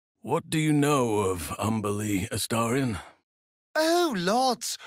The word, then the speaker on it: Umberlee: What do you know of Umberlee, Astarion? Oh, lots. Rhymes with undersea, for one thing.